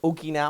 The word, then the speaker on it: Okinawa: do speak Japanese so when I pronounce stuff like Okinawa or Cadena that is the proper way to say it guys uh and get a lot of Americans saying or pronouncing it wrong it's like um so